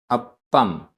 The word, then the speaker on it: अप्पम: अप्पम, अप्पम आधा प पूरा प, अप्पम।